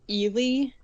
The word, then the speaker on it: Eli: drab appearance except for they pronounce the name elely I'm gonna say Eli because I know some of the context from reading the book about this character uh